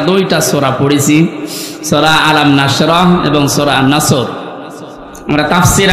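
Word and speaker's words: نصر: নাসর মানে ইগল পাখি এজন্য তেলাওয়াত যখন করবেন উচ্চারণটা গোল করা লাগে আল্লাহ পাক জানিয়েছেন যখন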